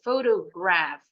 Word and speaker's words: photograph: well done betul bacanya celone P bunyinya F just like when pronounce the Anim Dol t sama tuh Photograph puninya F kalau ketemu PH Nah kalau di luar